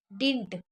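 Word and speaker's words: didn't: बट ही डिंट, इसको देखिए डिंट पढ़ा जाता है, क्योंकि इसमें से डी नट, एक डी को साइलेंट रखा जाता है, तो डिंट हो जाता है, वैसे डिड नॉट होता है ये।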